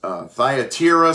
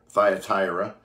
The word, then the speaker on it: Thyatira: When it comes to the pronunciation of this church, trust me, Rhonda and I have tried three or four different apps and got three or four different pronunciations. But again, that just simply comes from the ancient language and into more modern language. But Thyatira seems to be the one that works the best, although it's not the easiest one for me to say.